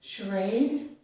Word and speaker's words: charade: Here we have words with the letters CH, which make the sh sound. This is charade, chef, Chicago, machine, mustache, and brochure.